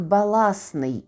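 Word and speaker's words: баластний: утворюємо від нього прикметник баласний і хоча пишемо бала й то читаємо баласний компост компостний контраст контрастний Т не вимовляється але пишеться Якщо вам Цікаво було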